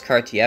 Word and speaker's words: Cartier: for extra cash so he uh Cartier yes Cartier I've been pronouncing his name wrong up until now shut